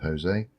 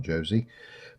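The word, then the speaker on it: José: I'm going to pronounce that as a Hispanic pronunciation of Jose, not Josie.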